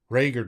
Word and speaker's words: Reagor: This first week I heard the other saying the pronunciation guide is actually Reagor.